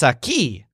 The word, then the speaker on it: aquí: Oh, says the merchant, it's a key. The word a key sounds like a key, but what it means is here.